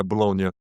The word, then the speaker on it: Bologna: Uh, please correct me on the pronunciation. Is it for Bologna? Correct. Yeah, Bologna.